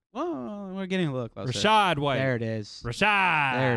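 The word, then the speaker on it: Rachaad White: okay great um can't wait for you to pronounce his next name richard white not even close richard white not oh we're getting a look rashad there it is rashad there it is so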